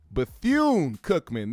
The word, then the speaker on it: Bethune-Cookman: Bethune-Cookman. There we go. I was gonna say Bethune with an M, but it's Bethune with an N.